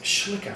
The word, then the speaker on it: Schlicker: schlicker um who uh coach Harrison can't actually pronounce that it's schlicker Phil if you're watching schlicker and a young boy